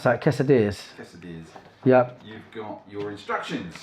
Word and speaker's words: quesadillas: How do you pronounce that? Quesadillas? Quesadillas.